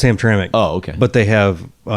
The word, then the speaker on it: Hamtramck: How do you really pronounce it? Well, it's Hamtramck.